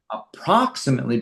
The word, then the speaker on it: approximately: Approximately careful of the accent approximately.